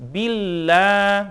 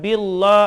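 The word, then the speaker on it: بالله: jadi bila bacanya dalam istilah tajwidnya tarqiq ya tipis bila jangan bilo Audzubillah na ada juga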